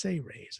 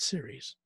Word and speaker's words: Seras: And it's pronounced Sayrays, as if it was spelled Sayrays, but it's spelled Seras. It's pronounced Sayrays, not series. It's not the World Series. It's not baseball. It's Sayrays. So it'll help you in